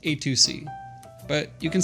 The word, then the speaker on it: AytuC: First off, it's pronounced AytuC, but you can say it however you like.